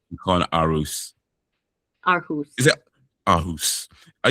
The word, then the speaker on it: Aarhus: I thought it was going to be pronounced Aarhus, like Toys R Us. But no, it is Aarhus.